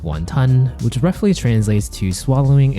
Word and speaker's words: 雲吞: In Cantonese, it's pronounced wàhn tān Which roughly translates to "swallowing a cloud".